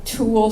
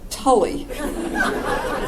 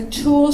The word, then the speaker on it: tulle: I said it was very pale green, and it had a tulle skirt. Now, in years past, I would, of course, pronounce that Tully.